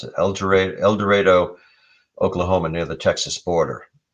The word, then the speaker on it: El Dorado: It was in El Dorado. That's how they pronounce it. El Dorado, Oklahoma, near the Texas border.